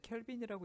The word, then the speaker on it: 켈빈: 자, 쓸 때는 K라고 쓰고요. 읽을 때는 켈빈이라고 읽으시면 돼요.